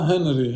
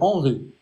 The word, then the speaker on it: Henri: pas 4e ou l'trè alors c'est pas Henry Henry c'estar c'est en Arab c'est Henri Henri voilà VO le h on le prononce pas en français c'est Henri h voilà alors euh